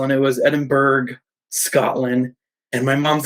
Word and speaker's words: Edinburgh: I opened up that call and it was Edinburgh Scotland and my mom's like no no no it's it's Edinburgh and I was like what I was like